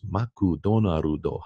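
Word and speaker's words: マクドナルド: He goes, maku donaru do hamubaga. Everything has to have a syllable. Ah. And the syllable must end in a vowel.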